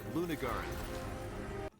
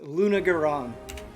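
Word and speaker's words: Lunagaron: I did the instead of I did it the other way, and I was wrong. I was wrong in both instances. Luna Garan.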